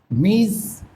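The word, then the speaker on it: Ms.: কিন্তু এই জায়গায় যেটা মিস এটা হচ্ছে মিস। অর্থাৎ জয় এর মত একটা সাউন্ড আসবে মিস। অর্থাৎ এনি উইমেন যেকোন মহিলার ক্ষেত্রে আমরা এটাকে ইউজ করতে পারি। যেমন মিজ অপর্ণা দত্তা লিভস ট বৌবাজার ইন কলকাতা।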